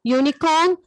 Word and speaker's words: unicorn: Okay, I've told you, no, uniform, unicorn. See a unicorn, uniform, useful. All these words, it has a YU sound.